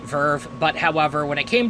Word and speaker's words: VRV: makers of crunchyroll vrv i'm pretty sure people pronounce it verve but however when it